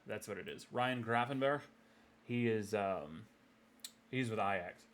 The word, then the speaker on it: Gravenberch: Is it Grafenbeck? I always feel like I'm gonna mispronounce the shit out of people's names and sound like a dumbass. Yeah, Berg. That's what it is. Ryan Grafenberg.